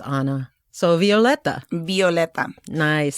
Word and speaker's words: Violeta: Because a lot of people don't know how to pronounce They're Violeta. Say Violeta. Violeta.